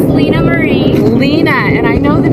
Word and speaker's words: Lynaa Marie: So you have to pronounce your name because I never say it right. It's Lynaa Marie.